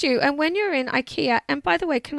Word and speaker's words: Ikea: and when you're in Ikea and by the way can I tell you that my Swedish fiance tells me it's pronounced Ikea I'm sure he gets